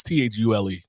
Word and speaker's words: Thule: base out there, and I forgot how you pronounce it, but it's Thule.